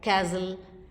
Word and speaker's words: castle: It is silent in words like castle, Christmas, bustle.